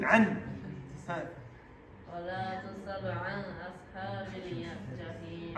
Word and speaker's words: عن: Don't say عن أصحاب. عن. Pronounce noon. عن.